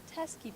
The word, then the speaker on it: Teskey: 27 2018 and today I'm here with the teske brothers how you guys do it very good thank you I pronounced that right right yeah yeah perfect I